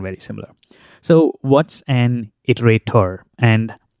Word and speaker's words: iterator: Not iterable, but iterator.